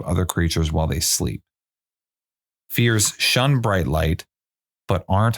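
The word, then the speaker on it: Fyr: moment which is a fee it's it's actually pronounced fear but it's spelled f yr so a fear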